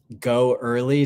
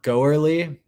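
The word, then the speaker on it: Goerli: who are running that go early test net or some pronounce it uh girlytestine or go early lots of different definitions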